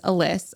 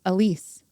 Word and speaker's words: Elise: pronounce her name cuz Lauren always says Alys. I thought it was Alice. So Lauren texted her while we were at Polycon and it's Elise.